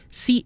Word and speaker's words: chienne: So chien, CHIEN, is nasal, but the feminine form with two N's, CHIENNE, is not. Chienne. Masculine, chien, nasal. Feminine with a double N, chienne, not nasal.